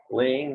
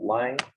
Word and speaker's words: Laing: up the point about the pronunciation of laying. There is an I in the middle of the names which should be there for a purpose and the family are actually quite strict about that. They get um quite annoyed when they're called lang.